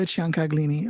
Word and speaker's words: Ciancaglini: Yes, I was going to ask you about the pronunciation of it because it sounds like it's Ciancaglini. Italian.